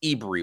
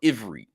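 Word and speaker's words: עברי: race and uh so as spells or is pronounced ibri or Ivory so let's go deep into what this means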